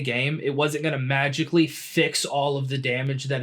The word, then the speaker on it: Fi: You even got Fi or Fee, whatever you want to pronounce it. You know, I'd say Fee.